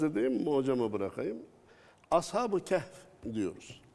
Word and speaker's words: Kehf: Bazısı keyif diyor. Sanki keyif ehli gibi. Söylemesi zor ya ondan öyle daha zor. Telaffuzu zor hocam. Ondan herhalde. İki sessizdir. Yan yana zor. İki. Kef. H ve Kef. F yan yana.